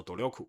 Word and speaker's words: 努力: ここまで是至今为止，努力啊，念作努力就是努力的意思啊。